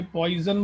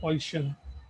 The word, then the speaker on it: Poisson: काफ़ी लोग इसे गलत प्रोनाउंस करते हैं, इसे पॉइजन बोलते हैं, बट इट इज़ नॉट पॉइजन, इट इज़ पॉइशन.